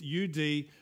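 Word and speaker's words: עוד: It's U-D, but it's pronounced ud.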